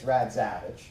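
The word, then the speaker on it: Radziewicz: But if you're really into pronunciation, it's Radzievich. It's a Polish spelling convention, but the family's from Lithuania.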